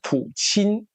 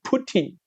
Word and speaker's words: Putin: 我直接问他 Vladimir Putin 正确的读法是普钦，但不知道怎么搞的，台湾就念成 Putin。普京跟普钦比较接近俄语的念法，所以就是